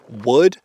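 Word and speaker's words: Woox: 500 stocks this beautiful wood bad boy here is from wood it's uh spelled w x I was informed that it is not pronounced like woo uh but uh I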